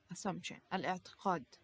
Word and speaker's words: assumption: becomes assumption okay assumption now the p here actually it is you know uh not asylum p but you know when you pronounce it try to be you know as light as possible okay assumption now